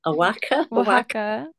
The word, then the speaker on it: Oaxaca: Oaxaca.